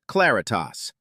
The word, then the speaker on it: CL4R1T4S: That is the CL4R1T4S archive, pronounced Claritas.